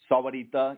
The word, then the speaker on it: Sahuarita: The Spanish version of the enunciation would be Sahuarita. But it also goes by the Sahuarita as well. But Sahuarita is the formal term.